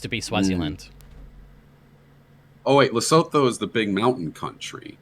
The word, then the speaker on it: Lesotho: Lesovo. Oh, I feel like giving you a point off for that. It is South Africa, but it's Lesotho. THO. Lesotho.